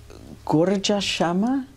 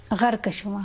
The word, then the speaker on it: Gharkashama: Though she looks at Western girls and proclaims, I'm going to mispronounce this, Gorja Shama? No, no. Gharkashama.